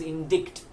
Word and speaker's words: indict: you think it is indict but no the C is silent and it's spelled as if there's the E in the end so it's indict IND